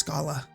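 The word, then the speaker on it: Schala: Yes, I said it right. It's Scola. It only took 30 comments.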